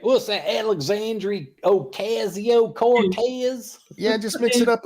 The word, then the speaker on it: Alexandria Ocasio-Cortez: Oh, and by the way, Frosted, you said her name wrong. You have to say Alexandria Ocasio-Cortez.